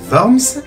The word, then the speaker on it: Worms: ou 30 mai à l'assemblée de Worms qui se prononce Worms Charles 2 reçoit une